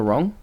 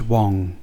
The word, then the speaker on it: Wrong: come in hi um you see doctor wrong uh it's pronounced wang the ari silent but yes come in uh